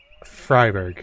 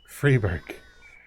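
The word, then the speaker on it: Freiburg: let's do this one fryberg no freeberg it is freeberg okay freeberg more freeberg no it's free free be free no it's Borg Borg freeberg freeborg it's been so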